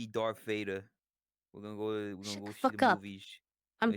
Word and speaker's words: Vader: just Vader I gotta don't be like a German and pronounce your V's as W's they have that habit Vader okay